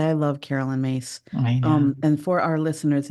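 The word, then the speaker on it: Myss: say I love Carolyn mace um and for our listeners if you're not familiar with her we'll put her name in the show notes but her last name is spelled my y SS yeah now I found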